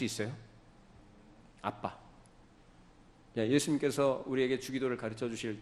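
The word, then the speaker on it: אבא: 받으시도록 그니까 아버지라고 표현하신다 아람어 아빠입니다 우리나라하고 똑같아 발음이 아빠 아버님 아바 마마가 아니고 아빠라고 해요 아빠 그만큼 하나님과 우리와의 관계가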